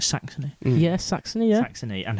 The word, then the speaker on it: Saxony: Am I pronouncing that right? Saxony?